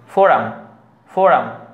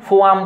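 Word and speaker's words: forum: তারপরে ফোরাম বানানটা লক্ষ্য করুন, ফোরাম বানানটা হচ্ছে বলতো অ্যাকচুয়ালি এখানে আর আছে, আর এর পরে ইউটা কি ভাওয়েল, সুতরাং আর এর উচ্চারণ করতে হবে, ফোরাম ফোরাম, কেমন, ফোয়াম কিন্তু বলা যাবে না, আরটা বাদ দেওয়া যাবে না এখানে।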